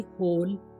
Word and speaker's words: hole: BONE bone यानी कि हड्डी, CONE कोन, शंकु, DOME डोम, गुंबद, HOLE होल, छेद, MOLE मोल, मस्सा, NOSE नोज, नाक, ROPE